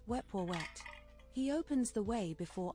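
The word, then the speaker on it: Wepwawet: His name is pronounced Weepoet.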